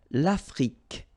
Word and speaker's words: l'Afrique: L'Afrique, same thing here. Final E, it's only the k at the end that you will hear.